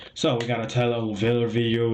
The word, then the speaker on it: Oliveira: Tyler Oliveira.